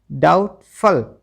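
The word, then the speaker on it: doubtful: ऐसे ही डाउटफुल। ठीक है, डाउटफुल जो वर्ड है आपका, यहाँ पर भी बी साइलेंट है, क्योंकि यहाँ पर भी BT इकट्ठा आया हुआ है।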